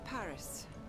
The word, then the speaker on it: Paris: On dit Paris, faut pas prononcer le S.